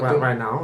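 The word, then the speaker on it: Rosalía: on that right now it sounds like right now is how you pronounce her name um but they sounded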